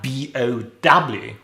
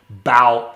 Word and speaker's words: bow: And then we have B-O-W, right? And so in a couple of examples, we have a bow tie, but we bow down.